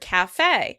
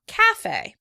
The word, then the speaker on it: cafe: In British English, the word is stressed on the first syllable. Cafe. Cafe. In American English, the word is stressed on the second syllable. Cafe, cafe. You can remember the American English version because we usually include a little accent mark on the E.